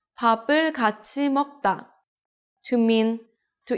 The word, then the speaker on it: 밥을: You read it as 밥을. 이응 is just the placeholder, so when there's 받침 right before 이응, the sound of the 받침 moves to the next syllable. Not 밥을, it's 밥을. Altogether, you can say 밥을 먹다.